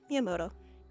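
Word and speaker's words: Miyamoto: Yeah. Miamoto. Miiamoto. That's how you say it.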